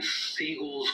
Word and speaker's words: Seagal: But here's where things get interesting during Seagal's role as the sensei. Oh, and if you wonder why I keep saying Steven's last name is Seagal, it's because that's the actual proper pronunciation of his name.